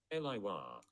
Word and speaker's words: Elye Wahi: How do you pronounce his name? Let's find out. Elye Wahi.